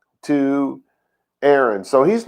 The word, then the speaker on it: Aharon: it says l to aaron so he's not just going to just shoot the breeze with aaron right aharon to say his name properly he's not going to